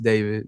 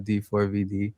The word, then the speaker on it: d4vd: Um, pronounced David, not D4 VD.